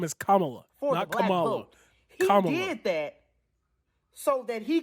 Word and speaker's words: Kamala: pandering he chose kamala kamala her name is kamala did that so that he could try to